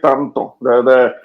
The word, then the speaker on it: tanto: When you say tanto, you say tanto. The vowels have flat sounds.